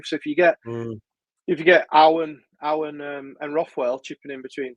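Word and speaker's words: Ao: If Tanaka? You pronounce it Ow.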